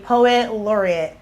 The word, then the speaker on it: Poet Laureate: Since 1959 to be a Poet Laureate.